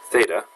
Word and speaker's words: theta: just means it's an unknown angle and is pronounced theta okay so sine of any angle would equal